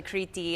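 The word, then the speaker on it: Κρήτη: And actually Kriti is the Greek pronunciation of Crete.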